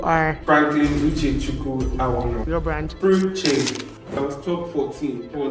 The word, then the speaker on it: Fruche: It's Fruche. I was close. FR from Frank and Uche from Uche.